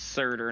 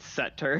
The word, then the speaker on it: Surt: First of all, it's pronounced Surtur, not Setter.